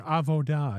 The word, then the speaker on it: Avoda: Um, but first I'm going to get into why I chose Avoda or Avoda if you're into the uh the more traditional Hebrew pronunciation of the the word.